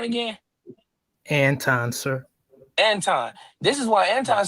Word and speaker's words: Anton: Anton.